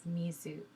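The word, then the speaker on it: みず: and then this hardens this diacritic here hardens this to become more of a zoo sound so this becomes mizu or water and i apologize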